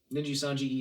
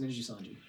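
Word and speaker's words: Nijisanji: Yep, that's I as far as I know, it's pronounced Ninji Sanji.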